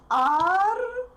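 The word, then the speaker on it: Аргентина: Argentina is Argentina. Argentina. Argentina. E is stressed, so if I pronounce this word fast, I will get E, not E. I will get E because unstressed E represents E sound.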